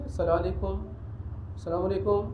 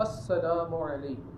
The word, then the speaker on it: السلام علیکم: سلام صحیح طریقے کے ساتھ کرنا چاہیے، السلام علیکم یوں نہیں کرنا چاہیے، صحیح تلفظ کے ساتھ السلام علیکم.